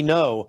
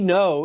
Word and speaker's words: Ngo: Um the next Yeah, by the way, I just shout out people like Andy No, his last name is spelled G Ngo. Andy No is really the guy in Portland who has revealed what Antifa is all about.